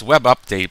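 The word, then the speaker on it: WebUpd8: It's web update, but it's spelt web up web and then UDP UPD8, sorry.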